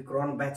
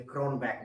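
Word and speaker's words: Cronbach: और फिर कन बैक मेरी बेटी पीछे से कह रही थी कि क्रोन बैच मत बोलिए क्रोन बैक बोलिए तो क्रोन बैक वसे हम बोलेंगे बैच ही क्योंकि हम उसको प्रोनाउंस बैच ही करते हैं और फिर एक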